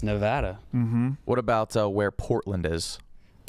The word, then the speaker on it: Nevada: Nevada. I say Nevada. I say Nevada as well. Nevada. I did too, up until I just figured out it's Nevada.